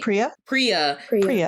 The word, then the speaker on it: Priya: It's Pura, right? Priya. Okay. Priya, yeah. Like instead of Prius, it's just a ya, so Priya, you know.